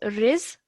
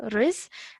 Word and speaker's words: رزقه: Now over here, so if I just pause you over there, this is riz, okay, because the ra has a kasra, so we produce a kasra sound, riz.